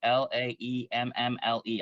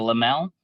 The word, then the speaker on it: Laemmle: Laemmle. I'm not from Los Angeles, um, so I don't know this. I'm not familiar with this theater, but the Lamel, I believe, is how you pronounce Yes, it.